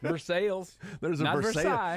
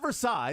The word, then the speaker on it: Versailles: thing there's a visales there is for sales not Versailles because come on you pronounce the letters in in these words we go to Versailles